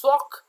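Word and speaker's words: SOC: सॉक usually pronounce सॉक और sometime called an information security operation centre कहलाता है।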